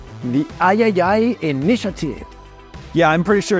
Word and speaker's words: III: partnering with called the Ayayay Initiative. Yeah, I'm pretty sure it's pronounced Triple I. You know, like AAA, but with I for indie.